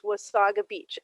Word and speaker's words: Wasaga: is that is that why it's wasabi and not wasted yeah it's the nottawa narawasaga river and it's wasaga beach and uh it doesn't sound right but that is the way you're supposed to pronounce it and um interestingly enough